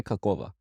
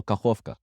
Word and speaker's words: Kakhovka: Dave, say Kakova. Kakova. No, well, is that the name? Is that how you would pronounce this? Or is it Kakhovka? Oh, Kakhovka.